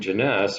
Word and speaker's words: Jeunesse: told one time that my name Jeunesse rhymes with finesse and so there you